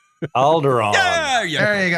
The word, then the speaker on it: Alderaan: It rhymes with Balgaron. Alderaan. Yeah, there you go. Alderaan.